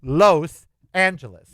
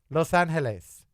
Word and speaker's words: Los Angeles: It is Los Angeles. If you don't like that, don't say it. But that's what it is. Los. L-O-S. Los. Los Angeles.